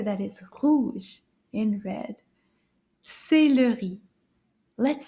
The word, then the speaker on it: céleri: Let's see if we can count how many syllables in this word. Combien de syllabes? We're going to clap them together. Céleri. Oh, let's try that again. Céleri. 3 syllabes.